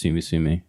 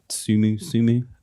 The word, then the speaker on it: T5UMU: and it's T5UMU, T5UMU, and I think it's Sumu. Okay. I think that's probably. I think it's the 5s with the S's. Yeah, that are the S's, and it's Sumu.